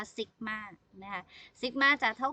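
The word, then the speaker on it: sigma: นะ คะ ตัว นี้ ตัว นี้ คล้าย ๆ เลข 6 เนี่ย นะ คะ อ่าน ว่า ซิก มาก นะ คะ ซิกม่า จะ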